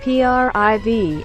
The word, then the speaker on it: Priv: a blackberry you get the priv pronounced priv not cry or breathe a device that s